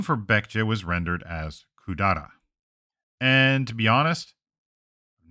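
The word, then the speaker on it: 百済: reading later on, and there are plenty of place names that use that reading as Kudara. Still, I'm not absolutely certain when that reading became common, but that is how these kanji are often pronounced today for whatever reason.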